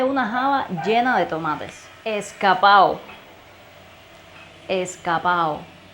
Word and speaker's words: escapao: In Cuban slang, when we have a word that ends with the syllable ado or ada, we tend to omit the D sound. We connect the two final vowels.